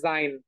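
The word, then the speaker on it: sie: উচ্চারণটা আমরা করতেছি হচ্ছে জি হ্যাঁ জি কেন করতেছি কারণ এস এর যে উচ্চারণ সেটা হচ্ছে জেড এর মত দ্যাটস হোয়াই ওকে এই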